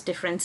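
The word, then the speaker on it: différance: written with a an a different it is pronounced as difference of course so now different difference is nothing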